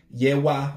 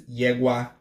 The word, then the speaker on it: Yewa: mentioned this one that there's two ways to spell it yah wah versus yegua they both mean mother of character the difference